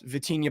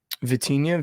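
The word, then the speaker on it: Vitinha: game check um but I love Rafia shots vtina passes do they have vtina for prize picks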